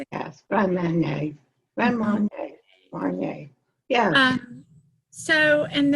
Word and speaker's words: Grand Marnier: Yes, Grand Marnier.